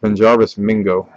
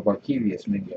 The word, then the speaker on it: Barkevious Mingo: I still can never pronounce this guy's name right. Benjarvis Mingo. Oh, Barkevious Mingo.